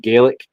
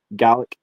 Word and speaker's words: Gaelic: I mean, they're so fundamentally close that, for instance, the traditional Irish language is called Gaelic. In Scotland, it's very, very similar, but it's pronounced Gaelic.